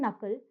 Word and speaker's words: knuckle: So here in these words, knock, knack, and knuckle, the K is silent.